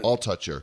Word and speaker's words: Altucher: Altucher.